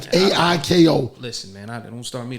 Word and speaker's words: Aiko: How do you pronounce the name? It's like Aiko.